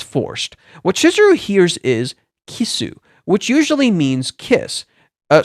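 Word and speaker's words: キス: So this fish is um is pronounced kissu. This particular fish is pronounced kisu, which is how you say kiss in Japanese.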